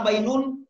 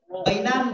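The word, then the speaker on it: بَيْنَ: Semuanya di baris fathah, dan tidak pernah bainun, bainan, bainin. Dia baina terus. Makanya kalau ada ba, ya, dan nun, oh baina. Tidak ada yang lain. Nanti ya, secara umum 95% bacanya baina.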